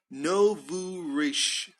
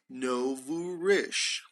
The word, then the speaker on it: nouveau riche: So we say so pay attention to this, they're nouveau riche. They're nouveau riche, okay? He is nouveau riche. She is a bit nouveau riche. The pronunciation is nouveau riche. Nouveau riche.